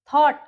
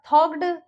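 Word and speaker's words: thought: okay, GH थॉट, थॉग्ड या कॉग्ड ऐसे नहीं बोलेंगे, तो GH वॉवेल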